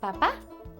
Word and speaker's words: papá: What about a papá? Papa in Spanish is papá. Same thing. Sounds similar. Just a little accent on the end. So it's papá, papa, or dada.